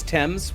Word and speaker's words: Thames: Yeah, and it is Thames. They're all wrong with the name. Yes. Yeah, I mean, that's what I've been saying. I've been saying it's Thames the whole time. It's Thames.